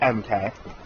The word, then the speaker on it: MK: Well, I was watching r/Suzy from the Ocean Wonders channel, MK. It's EMKAY, or EMKEY. Yeah, it's MK, that's pronounce it like that.